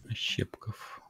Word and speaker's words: Ощепков: А ударение куда ставить лучше у вас, ваша фамилия? Лучше на букву Е. Ощепков.